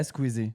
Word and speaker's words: Squeezie: Yeah, Squeezie.